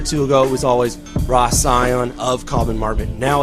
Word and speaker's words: Scion: I should correct you on the pronunciation. Scion. So people know. That's a bit over enunciated, but Scion is the correct pronunciation.